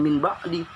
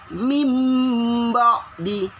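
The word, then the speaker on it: مِنْ بَعْدِ: Tulisannya min ba'di. Bacanya gimana? Bukan min ba'di, tapi mim ba'di. Mim ba'di, ya. Langsung masukin ke huruf ba-nya. Nun sukun ketemu ba.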